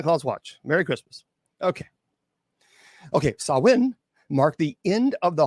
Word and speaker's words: Samhain: Now, by the way, it is not Samhain. That is an incorrect pronunciation. That, by the way, Samhain was pronounced in television shows and movies. And unfortunately, in one of my the Halloween movies, they kept saying Samhain. It was like, it's not Samhain. It's Samhain. That is actually how you say Samhain. That is the correct pronunciation.